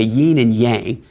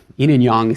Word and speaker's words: yin and yang: Y and yang okay sometimes Americans say yin and yang uh Y and yang sounds a little more Chinese so there are these